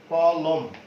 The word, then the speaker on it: কলম: শেষ বর্ণটিতে কিন্তু অ উচ্চারিত হচ্ছে না, যার জন্য ওই অটা কিন্তু পাশে লেখা হয়নি। কলম অর্থাৎ মটা হচ্ছে বদ্ধ উচ্চারণ, বদ্ধাক্ষর, সেই জন্য অয়ের মর সাথে যে অ আছে সে অটার উচ্চারণ আমরা করছি না।